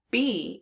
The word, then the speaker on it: be: it's making B but that e we would expect it to be making a short e sound e but it's not it's making a long e sound and because that e is making a long e sound we need to learn it by heart so this word is